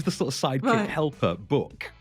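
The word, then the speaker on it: Bouc: Book. I think it's spelt book, but I just kind of read it as I think they say it as if they're French people saying book, but it's book.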